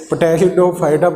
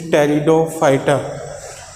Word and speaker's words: pteridophyta: Talion means, here the P will remain silent, students. Some students say it pteridophyta, but it is wrong pronunciation. What is the correct pronunciation of this? Is pteridophyta.